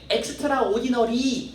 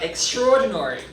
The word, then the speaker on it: extraordinary: 3번 발음할 때 엑스트라오디너리 하지 말고 한번 따라해 볼게. Extraordinary.